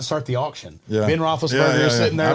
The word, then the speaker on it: Roethlisberger: Roethlisberger.